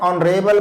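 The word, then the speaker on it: honourable: उसी ढंग से हो गया एन ऑनरेबल पर्सन, सम्मानित व्यक्ति, एच साइलेंट हो रहा है, ऑनरेबल पढ़ रहे हैं, ऑनरेबल नहीं पढ़ते हैं। अच्छा से उच्चारण करिएगा, गलत नहीं होगा।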